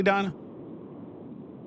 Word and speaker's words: Dina: Am I pronouncing that correctly, Dinah? Is it Dinah or Dina? It's Dina.